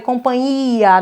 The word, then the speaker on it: companhia: não falem companhia tá essa palavra é complicada é companhia não tem ali tem um nh cuidado a gente já